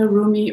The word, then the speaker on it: Rumi: here is from the roomie or remy oracle deck by elena fairchild i like to say rumi but people pronounce it differently differently so he was a